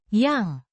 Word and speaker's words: yang: A relative pronoun meaning that or which pronounced yang.